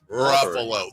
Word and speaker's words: Ruffalo: Walberg Ruffalo yes wow Ruffalo the only actor Ever whose name rhymes with Buffalo did you know that